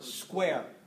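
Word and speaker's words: Squier: literary to I just he responded that it sounded like the word square so that settles it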